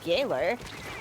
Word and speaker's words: Gaoler: And Gaoler, I've been told it's pronounced Gaoler, ends up...